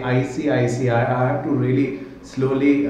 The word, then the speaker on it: ICICI: I say ICICI I I sometimes really just pronounce it as icsi you know um really flumble at times when I say I see I see I I have to really slowly uh you know